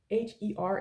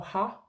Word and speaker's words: her: Der, D-E-R, is either da or der, and H-E-R is either her or ha, herhen, herhen, yeah?